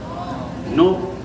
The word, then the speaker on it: know: KNOW को क्या बोलेंगे, कैसे उच्चारण करेंगे? नो। दोनों नो हुए ना।